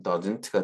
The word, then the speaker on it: doesn't: 그 이유는 he가 3인칭 단수 주어이기 때문에 이때는 doesn't가 되겠습니다. 그래서 문장에 넣어서 읽어봤을 때는 he doesn't like you, doesn't라고 잘 읽지 않고요. 문장 가운데 doesn't가 나왔을 때는 doesn't, 그냥 t를 생략해도 되겠습니다. 발음을.